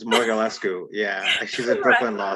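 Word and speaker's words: Mogulescu: James, help me pronounce Kate's last name because I can never pronounce. I'm going to butcher it too. It's Morgalescu.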